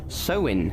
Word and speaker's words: Samhain: Alright folks, let’s start at the beginning… Halloween goes back to the ancient Celtic festival Samhain or pronounced “sow-in”.